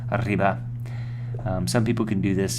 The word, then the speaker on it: arriba: Roll your R's, trill your R's. Remember, arroz, arriba.